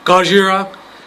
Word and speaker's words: Gojira: life yes that is Godzilla or Gojira Gojira as you probably have heard yesterday my I'm not really a weeaboo guy so I don't usually use correct Japanese pronunciations because I'm lazy and